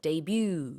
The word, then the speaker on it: debut: 우리는 데뷔라고 하는데 영어식으로는 debut 이렇게 발음을 합니다. D-E-B-U-T.